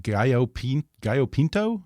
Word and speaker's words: gallo pinto: Yeah, I think you say that they have the healthiest breakfast in the world, something called, I hope I have this pronounced right, gallo pinto?